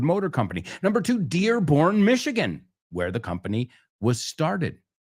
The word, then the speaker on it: Michigan: Acordaos, Michigan in English se pronuncia Michigan or Michigan.